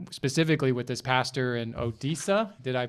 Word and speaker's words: Odisha: And and specifically with this pastor in Odisha, did I pronounce it right? Yeah. Odisha? Odisha.